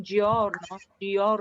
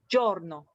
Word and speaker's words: giorno: less e inside so it's not george dior no it's giorno can you hear the